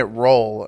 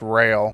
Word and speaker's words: Roehl: I keep calling it roll. I looked it up and it's pronounced rail.